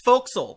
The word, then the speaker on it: forecastle: someone link to me how to pronounce forecastle it's what it's fo'c'sle foxhole yeah [ __